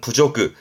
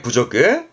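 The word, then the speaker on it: 侮辱: 발음은 부조그, 모욕적이단 말이죠. 부조그입니다. 그렇게 또 이해해 두세요. 모욕의 부조그.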